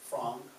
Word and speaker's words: Frank: that was her name we call her anne frank the family pronounced their name as frong al paul and frank